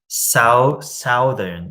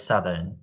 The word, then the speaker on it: southern: I used to pronounce, like when I was a uni student, southern, but it's southern, right? Like southern, thousand, like because it's south.